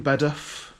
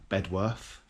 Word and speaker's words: Bedworth: So, it's in Bed or Bedworth as it uh is pronounced to everyone that doesn't live in Bedworth.